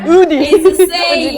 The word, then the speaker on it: Audi: Udi. Because like in France, if we have a U together, the pronunciation become, right? So, we have to say Udi.